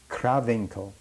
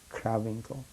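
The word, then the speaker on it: Krawinkel: satellite outside buchenwald and that place was called kravinko how do you spell that k r a w i n k e l kravenko it was also known somehow like that settled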